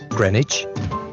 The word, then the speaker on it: Greenwich: start with our great river is the thames greenwich leicester square borough one of the best ways